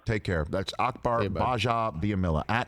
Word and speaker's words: Gbajabiamila: care of that's Akbar gbajabiamila @ Akbar under store underscore Basha which is the it's the silent G everybody silent G G ba j a on both Twitter and